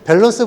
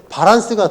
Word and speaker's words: 밸런스: 특히 이제 뭐 공사현장 뭐 이런 작업현장에서 는 밸런스 보다는 바란스가 더 어이 스칼 거 왜냐하면 1분씩 발음 이거든요 근데 바른 스 보다는 밸런스가 뭐